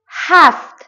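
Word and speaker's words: sept: آسونه آسونه آسونه عدد ست عدد ست عدد ست ست سپت نوشته میشه اما ست خونده میشه پ تلفظ تلفظ تلفظ نمیشه عدد ویت ویت اینجا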